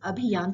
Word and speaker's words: abhiyan: snowfall aluminum Ki Ary sorry the exact pronunciation here is abhiyan tricky okay so Dr